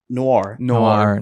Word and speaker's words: noir: Noir.